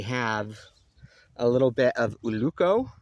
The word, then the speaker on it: ulluco: And then we have a little bit of uluco.